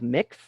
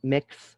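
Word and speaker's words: Mx: we do have a codified uh gender-neutral honorific of mix uh there's a variety of ways to pronounce it i do like mix uh very much um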